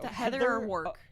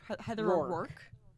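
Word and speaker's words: Heather O'Rourke: oror it's Heather o am I saying it wrong yeah I think so Heather or work Heather or work Heather or work is there's Anu o apostrophe r o u r k e oor oor okay Heather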